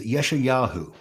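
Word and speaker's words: Yeshayahu: pronunciation to you uh in Hebrew he is yes he is yesha yahu which basically means Yahweh is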